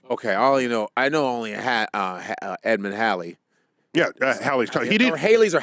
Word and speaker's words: Halley: Is it Halley? Yeah, Okay. Haley is Bill Haley in the comics. Whoa! We gotta rock. I'm on the rock tonight. We gotta rock. That messed with the proper pronunciation of Edmund Halley for decades.